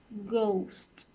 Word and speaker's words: ghost: And a middle word with the silent H would be ghost, ghost.